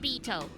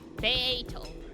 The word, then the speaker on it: Beato: Not Beto. Beato. I see. Okay. Beato? Beato will do.